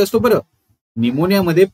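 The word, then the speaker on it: pneumonia: तर हे कदाचित त्याच न्यूमोनिया नाही आहे कारण इट कॅन be treated home chief cause of निमोनिया हा पी सायलेंट असतो बरं निमोनिया मध्ये पी सायलेंट असतो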